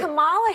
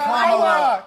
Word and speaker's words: Kamala: Let me actually pronounce her name right. Kamala Harris. If Kamala.